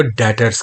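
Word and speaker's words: debtors: Mind में रखिएगा कि जो इसमें ये बी है, ये लिखने में बी आता है लेकिन बोलने में ये साइलेंट होता है। हम इसको डेटर्स कहते हैं, या डेटर वो शख्स जिससे हमने पैसे लेने हो।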